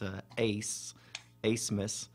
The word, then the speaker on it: Abmas: mispronounces last name the the b is silent it's a ace a smith um just trying to